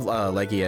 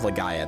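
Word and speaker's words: Legaia: But anyway, Legends of Leia is really cool. Um or Lega. No, sorry. It's Legends of Lega. That's how you say it.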